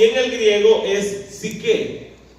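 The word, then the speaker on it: ψυχή: en el griego es psique. P-S-Y-C-H-E y acento en la E.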